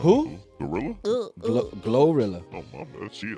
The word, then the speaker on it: Glorilla: Gorilla, you don't know what she's saying half the time. What she's saying. Who? Gorilla? Glorilla.